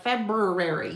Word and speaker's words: February: Again, it's that getting that R in there like February. You tend we tend to want to drop that second R.